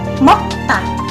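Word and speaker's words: 먹다: Nah, sama, karena ketemu dengan bacim maka tiget ini menjadi sang tiget atau menjadi kembar. Tigetnya yang tadinya 1 menjadi 2. Kalau 2 itu dibaca T. Kalau tiget 1 saja bacanya da, seperti itu. Tapi kalau sang tiget itu bacanya T. Jadi dari mokta menjadi mokta.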